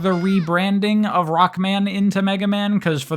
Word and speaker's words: Rockman: But Rockman, especially when you say it in Japanese, Rukman, I like it.